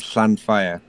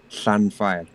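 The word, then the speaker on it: Llanfair: and read it because it starts with a double L, which is its own letter in Welsh.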